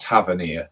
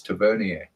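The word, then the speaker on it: Tavernier: And when it was actually pronounced the the French African way supposed to be pronounced, it's not Tavania, it's Tiverier.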